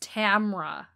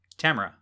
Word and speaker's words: Tamra: have to correct you it's just tamra tamara ospena yeah i feel like you put an extra syllable in there i like the name